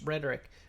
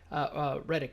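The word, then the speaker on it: Lance Reddick: Tennyson Demian Bichir and Lance rhetoric Riddick I should say death notes Adam Wingard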